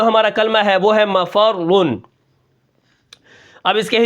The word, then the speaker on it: مفر: اس کے بعد جو ہمارا کلمہ ہے وہ ہے مفرن. اب اس کے ہجے کس طرح ہوں گے، میم زبر ما فا را زبر فر را دو پیش رن مفرن وقفا مفر. اب یہاں پر دیکھیں میں